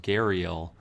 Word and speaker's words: gharial: a head that more resembled, I think it's pronounced gharial, than a crocodile.